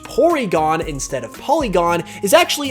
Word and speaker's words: Porygon: reason why it's pronounced porygon instead of polygon is actually a reference to how japanese people pronounce their l sounds as r sounds so stanler is found